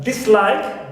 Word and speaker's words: dislike: Also, we have dislike. This, the prefix this, is also neutral, like in dislike, we stress like, not this.